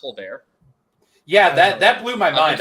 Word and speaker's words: Tolbert: Alec Pierce probably going to get draft capital, and Jalen, is it actually pronounced Tolbert?